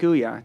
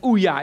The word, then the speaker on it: Ouya: like Facebook let's take Ouya do you know Ouya yeah the um video game yeah I think I'm pronouncing it right it's like ouah it's it's the Android video game u a yeah so they broke